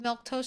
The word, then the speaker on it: Milquetoast: So, you've got four whole days in a row of milk toast streaming. And that's how you say my name.